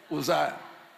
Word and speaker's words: Uzziah: And King Uzziah, or how do you pronounce it? Uzziah.